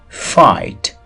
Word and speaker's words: fight: drug drug full full fat fat fight fight gh silent دی fight face face drug معنا